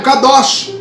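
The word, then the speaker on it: קדוש: entra uma expressão, uma palavra chamada, que você pronuncia no hebraico, kadosh.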